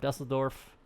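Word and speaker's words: Düsseldorf: pretty much right up over the top of dusseldorf that's how you actually pronounce it over cologne and then brussels there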